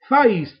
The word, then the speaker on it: Thais: One I do think could run well at a big price is Faiz, the French horse, the ex-French horse, THAIS it's spelt.